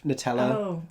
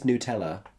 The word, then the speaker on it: Nutella: Nutella what how do you say it Nutella I promise you everyone in the UK unless they're being really self-important about its accuracy or unless they are physically Belgian says Nutella it's like Nutella but Nutella it is